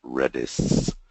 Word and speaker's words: Redis: about British is how you pronounce it it's pronounced redis and it's open source you can get the